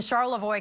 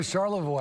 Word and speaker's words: Charlevoix: How did you know Charlevoix? I would never have guessed. I'm a Michigan native. Yeah, that's up north. There you go. Yeah. It's spelled Charlevoix. Voir with an X, I know.